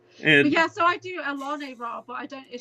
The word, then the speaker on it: Alane: name is Alane, but I spell it with ALANE.